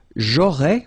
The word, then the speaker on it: j'aurais: J'aurais, remember, final S not pronounced.